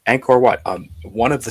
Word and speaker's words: Angkor Wat: It's Angkor Wat. Angkor or Angkor Wat. Yeah. I've heard it pronounced both ways.